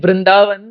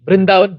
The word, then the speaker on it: Vrindavan: is a b but you see in brindavan V becomes B brindavan brindavan so Bali Bali but different personalities Bengali pronunciation like yamuna becomes jamuna so Bali comes from